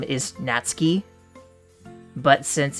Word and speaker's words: Natsuki: because you're it's not you don't pronounce the U in a Japanese name like that misys you would pronounce